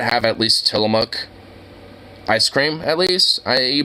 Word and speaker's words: Tillamook: And actually, like, Rose, if you do not have at least Tillamook ice cream, at least, you probably have Tillamook cheese out there.